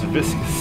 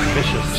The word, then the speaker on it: viscous: It is viscous cycle, not vicious cycle, as I had previously called it.